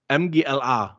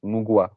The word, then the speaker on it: Mgła: In Germany we say MGLA because it's just like the letters.